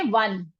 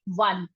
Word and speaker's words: won: आते हैं वन, WON, इसकी प्रोनाउंसिएशन वोन नहीं होती, वन।